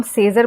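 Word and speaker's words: Caesar: जैसे सीजर में ए साइलेंट है। क्योंकि यहां पे ए का उच्चारण कुछ भी नहीं आ रहा है ना। ना हम सेजर बोल रहे हैं ना हम साइजर बोल रहे हैं।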